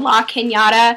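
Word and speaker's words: La Cañada: Okay, a suburb of that called La Kenyatta. Canada. Kenyatta, spelled like La Canada, which is, I hate you all, with okay? The squiggly over the end.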